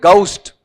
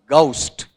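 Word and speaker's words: ghost: फिर अगला पार्ट है, इसका उच्चारण घोस्ट है या गौस्ट, ये ध्यान रखना। इसका उच्चारण जब आप बनाओगे ना तो ये आएगा, ये पढ़ सकते हो फोनेटिक तो पढ़ दो। बताओ क्या लिख रहा हूं मैं आपका, बोलो देखें, गौस्ट, घोस्ट नहीं होता है, यानी भूत के लिए आ जाएगा।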